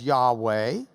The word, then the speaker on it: Yahweh: We often hear it pronounced as Yahweh, but it's translated in our Bibles as Lord using all capital letters.